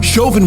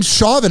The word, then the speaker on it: Chauvin: and i like that i say it wrong i keep saying shaving everyone says chauvin shaovin's better man i